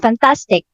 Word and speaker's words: fantastic: Example, when you say the word fantastic. So the primary stress is on the middle, tas, fantastic.